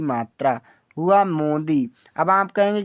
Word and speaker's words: Modi: MODI, इसे पढ़ेंगे हम मोदी। एम से माँ, ओ से ओ की मात्रा, अब डी से दा, आई से बड़ी की मात्रा, हुआ मोदी।